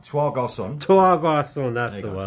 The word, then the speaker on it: Trois Garçons: Trois Garçons.